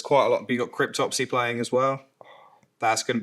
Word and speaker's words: Cryptopsy: You got Cryptopsy playing as well.